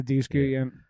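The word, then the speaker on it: Dushku: So I saw that a ton of times, and I also had a crush on Douche Coot, or is that how you supposed to say her name? Yeah, Eliza Douche Coot.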